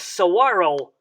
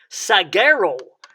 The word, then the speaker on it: saguaro: sound uh and and the g has not a g sound but a wah sound so uh uh and don't forget to roll the r at the end so you would say saguaro saguaro cactus become more